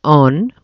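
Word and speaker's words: און: There is a cognate word for aven, and that is on, where we pronounce the middle letter as a vowel, and it means strength.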